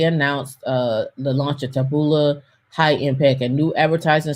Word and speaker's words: Taboola: it it was it's called tab tab chabola taboola taboo it sounds like something i would say